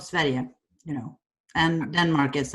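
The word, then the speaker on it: Sverige: everything yeah imagine no swedish yeah it's called sveria you know and denmark is actually called dominic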